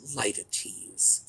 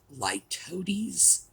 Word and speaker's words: litotes: let me say that there are two pronunciations you can find for this you can find litotes or lightities i think both of them are equally valid i have not been